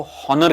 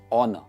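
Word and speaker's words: honour: अभी बहुत लोग इस वर्ड को हॉनर कहते हैं। अभी हॉनर इज रॉन्ग प्रोनाउंसिएशन, सही इसका प्रोनाउंसिएशन है ऑनर, ऑनर इज the right pronunciation.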